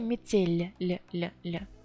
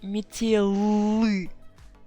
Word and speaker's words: метель: But here метель, soft sign makes L sound softer. If I put I instead of soft sign, it would be метелы, метелы. No, first it's quite difficult to pronounce, and also now L is not soft anymore, but it was originally soft.